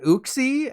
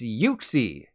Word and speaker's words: Uxie: It's not Uxie, as in oopsie, as I've been saying. It's Uxie.